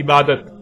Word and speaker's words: عبادت: اور جب عربی لہجے میں اس لفظ کو پڑھا جاتا ہے تو تیز ساکت ہو کر ہے کی آواز میں بدل جاتی ہے، یعنی اسے عبادہ پڑھا یا بولا جائے گا. عربی کا لفظ عبادہ جب اردو میں شامل ہوا تو اسے عربی کی بجائے اردو لہجے میں تے کے ساتھ بولا گیا اور بولا جاتا ہے، یعنی عبادت.